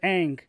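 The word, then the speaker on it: Aang: the last airbender uh his name is ong because in the tv show they pronounce it ang but okay ong um so yeah like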